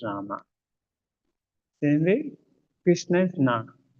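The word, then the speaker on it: राम: So it is Ram or Rama. In Hindi it's called Ram. But when Sanskrit mantra you utter, it is Rama.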